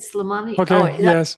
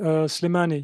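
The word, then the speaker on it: Slimani: And um and Llaya Smani, is that how you say it? Slammani so bad you don't even know who I'm talking about. I'm so sorry. I know Slemani. Yes, I know.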